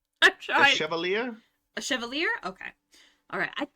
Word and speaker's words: Chevalier: Oh, Lier? Chevalier? Oh, a Chevalier. There we go. Okay, a Chevalier.